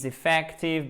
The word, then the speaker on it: effective: alors est ce training effective et inefficient because it takes le s2 troisième personne du présent simple et ex hockey so much time to finish it training accent tonique sur la première syllabe effective on l'a vu accent